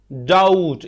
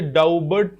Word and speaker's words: doubt: डाउट, इसे डाउबर्ट नहीं पढ़ेंगे बल्कि यह डाउट, बी साइलेंट है।